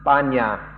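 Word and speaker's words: ปัญญา: Like panya in Pali in Thai is pronounced banya, and some Thai people have a different understanding of that.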